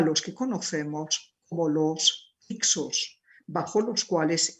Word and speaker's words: Hyksos: Gobernantes extranjeros, reyes pastores, como les llamaron los egipcios, a los que conocemos como los Hyksos, bajo los cuales Ixos se escribe con H y con una C intermedia, bajo los cuales Egipto vivió su llamado periodo intermedio.